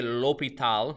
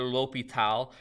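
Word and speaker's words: L'Hôpital: World by French nobleman Marquis De lopital that's how you say it or lopital and uh not actually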